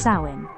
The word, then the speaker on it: Samhain: The origins of Halloween trace back over 2,000 years to the ancient Celtic festival of Samhain, pronounced sow-in, celebrated in what is now Ireland, the UK and northern France.